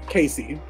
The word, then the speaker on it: Cayce: those who know me my name is spelled c-a-y-c-e casey weird spelling you can thank my mother for that um and through high school